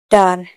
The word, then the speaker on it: guitar: गिल्ट, GUILT, गिल्ट, यू के बाद आए हैं तो यू यहाँ पर साइलेंट है। गिटार, GUITAR, गिटार, गिटार ने यू के बाद आए हैं तो यू यहाँ पर साइलेंट है।